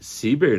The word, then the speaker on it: cíber: Aí eles me responderam o seguinte: "A pronúncia em português de cíber, né, que é o C I B E R, é com i e não ai."